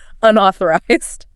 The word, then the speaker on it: unauthorized: That O sounds like a in ball or call. Unauthorized.